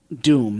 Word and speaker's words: Point Dume: something called Point Dume doom that spelled D um e but pronounced doom on the coast of